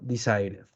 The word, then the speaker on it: decided: si pronunciamos la de otro ejemplo con d desite lo pronunciamos en pasado decided importante que en esos